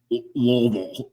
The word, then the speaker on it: Louisville: They just like real guttural. Like, marbles in your mouth. Louisville. You gotta say it like you gotta say like you have chaw in your mouth, bro.